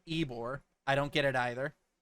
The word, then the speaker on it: Ybor: that the Cuban sandwich sprang forth from Tampa's Ybor City. Yes, that is in fact pronounced Ybor.